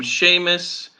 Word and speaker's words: Seamus: please okay so I'm Seamus I'm from Donegal in Ireland I have a funny name in Italy Seamus is like Shamu so you need to